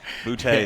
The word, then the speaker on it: Boutte: names when you get I had a kid named Michael Butt, but it was Boutte. He told me Boutte is how you say it.